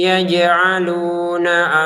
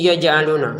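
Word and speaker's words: يَجْعَلُونَ: Masukin dengungan tahan dua harakat ya. Warquun yaj'aluna asobiahum. Begitu ya. Jadi kalau kita ini membacanya dengan ditahan maka benar. Kalau enggak ditahan salah. Contohnya wajaluna semua yang harus ditahan malah enggak ditahan.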